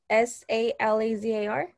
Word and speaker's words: Salazar: here uh who who just spoke um salazar oh you spell your last name s-a-l-a-z-a-r yes there is salazar am i pronouncing that right salazar yes okay i've got